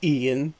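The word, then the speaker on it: Iain: Ian is usually pronounced Ian, just like the regular Ian.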